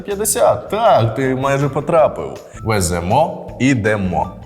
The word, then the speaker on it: веземо: Так ти майже потрапив веземо Ідемо дієслова із закінченням емо імо і то наголошується остання частина я запам'ятав дієслова з